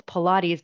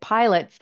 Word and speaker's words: Pilates: I know now that it's Pilates, but I was actually pronouncing it pilots until I saw in the article, how they have the phonetic pronunciation.